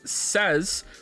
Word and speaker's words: says: likely you are to make says rhyme with Lays rather than Fez oh no who says